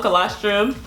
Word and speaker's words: colostrum: colostrum am I saying it right yeah called colostrum closed room yes but it's very fatty and